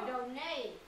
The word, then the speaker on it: Donate: cái từ Donate này các bạn đọc là Donate nhá cái âm này là âm Âu âm Âu quần áo